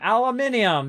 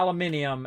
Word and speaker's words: aluminium: going uh aluminum aliaminium aluminium that's how they say it yeah aluminium as opposed to a lumi aluminum right aluminium alloy minium